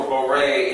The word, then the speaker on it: Borei: And by the way, obviously for Borei, it's spelled that way phonetically with the I only to make you say Re versus just Re. Borei. Right? Borei. It's only there for phonetics. There's no letter U there.